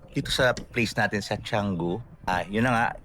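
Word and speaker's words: Canggu: And then by the way, little trivia dito sa place natin sa Changu. Ah yun na nga ang spelling is Kango pero they pronounce it changu.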